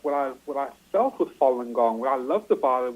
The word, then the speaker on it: Falun Gong: at the in 1992 and Falun Gong is pronounced Falun Gong is an ancient Chinese spirit of discipline ladies